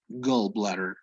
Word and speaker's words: gallbladder: the liver the gallbladder notice the pronunciation it's not an a it's gallbladder it's between an a and an o gallbladder okay this would be